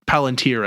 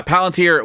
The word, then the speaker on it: Palantir: the CEO of a big data security firm, Palantir, I think is how you say that. Yeah, Palantir, which I believe, if I'm not mistaken, or I think it's Palantir.